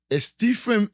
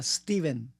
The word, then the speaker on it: Stephen: stepen Ah Steven bueno tiene pH intermedia pero en realidad se pronuncia Steven y es apellido boh